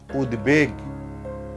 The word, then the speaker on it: উদ্বেগ: যেমন উদ্বেগ, উদ্বেগনা, এটা হবে উদ্বেগ।